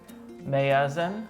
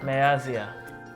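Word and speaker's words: ሚያዝያ: Miazia. Mayazan. Miazia. Mayazia. It sounds more like May. Yeah. Mayazia.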